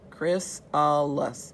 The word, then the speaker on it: chrysalis: look at three syllables Chris all us but it's spelled ch but it's pronounced CR and last adult about